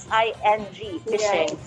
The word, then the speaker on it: phishing: it's spelled out as p-h-i-s-i-n-g fishing so phishing and identity theft is